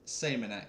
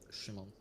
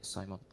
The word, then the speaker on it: Shimon: Uh my uh nickname is Simon. My name is Shimon. Okay, brilliant. Yeah, you can make it more English and say Simon.